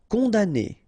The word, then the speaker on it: condamné: Condamné. Okay, so it's really strange because this M here, well, technically it's not pronounced.